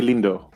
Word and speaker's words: Lindo: It's Thank like the thing is like most of the things that you need to pronounce Lindo are things that you already use in other words.